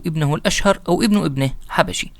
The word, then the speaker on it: حبشي: وخلفه أخوه أو ابنه قوط، ثم تلاه ابنه الأشهر أو ابن ابنه حبشي. طبعا النطق بالأثيوبية يختلف قليلا جدا، فبمراجعهم هبسي، وبالمراجع الإنجليزية كذلك نطق قريب منه، ولا داعي لنقول لكم